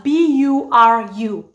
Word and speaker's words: buru: Okay, so they're all spelled as B-U-R-U. Buru, buru. Now let's look at the Luo of Barakazal, shall we? The Luo of Barakazal, spell it as B-U-R. Bur. That's just how I pronounce it, bur, because there's no ru, buru, there's none of that. And I think most of